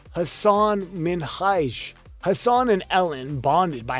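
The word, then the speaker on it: Hasan Minhaj: “It’s pronounced Hassan Minhaj!“ Hassan and Ellen bonded on having their names mispronounced by people.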